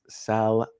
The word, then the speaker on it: Salman: The L is not silent. It is properly pronounced Salman.